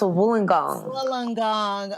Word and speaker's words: Wollongong: long dong close very close so it's always pronounced Wollongong is UOW so the reason why I wanted